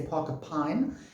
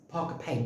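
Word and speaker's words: Parker Pyne: called parker payne investigates it's spelled p-y-n-e so some people say parker pine um i think the correct the correct way of saying is parker payne but it doesn't matter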